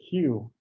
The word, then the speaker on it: queue: said on some means it's simply a q followed by four silent letters it's obnoxious cue you know it's something